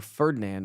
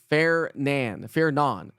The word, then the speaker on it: Fernand: it was Fernando or Ferdinand. I thought it was Ferdinand. It's not Ferdinand or Ferdinand. It's Fairnon. F A I R N Ahn. Fairnon.